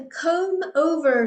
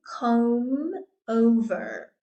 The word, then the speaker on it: combover: next we have a comb over so there we've got that silent B again comb over comb over so this